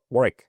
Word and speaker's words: Warwick: Um the English pronounce it with a silent W in the middle and the Americans tend to pronounce the W um explicitly, which of course is